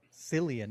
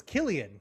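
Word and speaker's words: Cillian: Um, and so it stars Silian. No, it's Killian. Killian is how they pronounce it.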